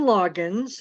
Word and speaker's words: Loggains: It's spelled with a silent A, which is kind of tricky. We'll blame my husband's side of the family on that, but it's like Loggins, and I say as in Loggins and Messina, and my students